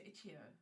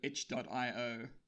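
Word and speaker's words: itch.io: got them on um i don't even know how to pronounce this i know we've had arguments i o um but i think most people would say ichio yeah i've heard ichio h dot io and hio i've heard all of them i don't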